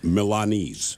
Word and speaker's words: Milanese: And by the way, it is Milanese.